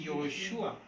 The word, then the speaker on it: Josué: En hebreo esa letra se llama Yod, la Y, Yod. ¿Sí? ¿Cómo se dice Josué? Josué, Yoshua. Con la Y.